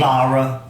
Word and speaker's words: Laura: But how do you actually say her name? Lara.